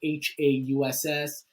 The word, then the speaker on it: Hauss: But yeah, it's Hauss, like the German spelling of house with an additional S.